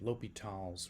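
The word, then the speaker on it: L'Hôpital: in this video we're going to look at lal's Rule and discuss how it helps us solve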